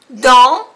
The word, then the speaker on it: dans: Dans también tiene una vocal nasal, AN, que se pronuncia en. Dans. No se pronuncia la S.